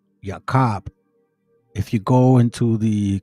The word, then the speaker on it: Jacob: The way that they pronounce Jacob is Yakob. Yakob.